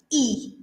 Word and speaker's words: y: then you add on a half so Cinco e media then so everything that's past the hour in Spanish we use the little word the y e it's pronounced which means and so for ten past